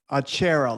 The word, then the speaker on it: achero: and the last name is achero like you're sitting on a chair a chair thank you so